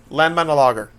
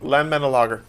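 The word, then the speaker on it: Landmannalaugar: Landmannalager. I don't think you said it right. Landmannalager. That's much better.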